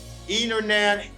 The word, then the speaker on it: internet: today in american english they drop the t they don't pronounce the t and these words they say interview internet 20 dennis center lenny international quantity thank you for